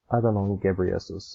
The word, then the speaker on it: Adhanom Ghebreyesus: Adhanom Ghebreyesus, I think that's how you pronounce his name.